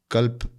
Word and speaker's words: कल्प: होता तो उसको एक कल्प कहते हैं अंग्रेजी में स्पेलिंग अगर आप लिखना चाहे के ए एल पी ताकि सुनने में करेक्ट हो कल्प लोग गलत उच्चारण ना करें कल्प यह कल्प एक